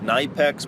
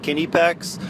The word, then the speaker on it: Knipex: a review for the night pecks pliers wrench now before I go on it is actually pronounced Kinney pecks you know I know we think K's are silent but uh which McCullough that's